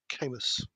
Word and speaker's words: Camus: I think I've read some Camus 1,000 years ago. Camus. Is that how you Yeah.